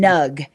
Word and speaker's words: Gnug: Yeah, and I'm calling him Nug. It's spelled Nug. Gnug, but I'm assuming that agree. the G is silent like in Nat.